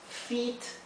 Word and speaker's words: feat: Y esta palabra que se escribe diferente se pronuncia igual, porque la doble E y la EA se pronuncian igual. Y feat aquí significa hazaña.